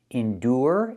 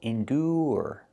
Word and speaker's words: endure: Now, we have these two words, endure and lure. Here, the ure is pronounced. Just the ooh sound plus the rer. Indo. Endure. Endure. Put the stress on the second syllable.